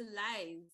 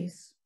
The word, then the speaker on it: Lise: now move on to Liz. Maintenant, on va demander à I think you mean Lise, Lise.